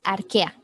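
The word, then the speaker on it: Archaea: cuál es ok es ar que a la ch se pronuncia como que sale arquea bacteria eucar ya las bacterias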